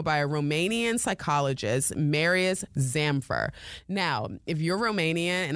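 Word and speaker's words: Zamfir: So the mother started doing some research, and she came across an article by a Romanian psychologist, Marius Zamfer. Now, if you're Romanian and I'm pronouncing that absolutely wrong, blame it on my American accent.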